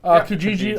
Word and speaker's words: Kijiji: I know Colin has used, what's that, Kijiji? Yeah. Am I saying it right? Yeah. Kijiji.